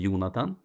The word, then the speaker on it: Jonatan: In Swedish we say Jonathan and there's is different ways of pronouncing my name in other languages.